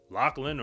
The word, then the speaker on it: Lachlan: Lachlan Kennedy, when he first burst onto the theme, I didn't even know how to say his name right. I mean, now I know that's Lachland or Locky Kennedy.